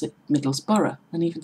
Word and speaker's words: Middlesbrough: tend to pronounce it Middlesbrough and even spell it Middlesboro to put the ore after the B there is no or after the B there is a few